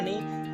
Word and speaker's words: know: से कोई लेना देना नहीं, ये साउंड बेस चलती है। जैसे कि फॉर एग्जांपल हम एक वर्ड होता है KNOW, इसके स्पेलिंग हो गए KNOW, पर हम इसको प्रोनाउंस करते हैं नो।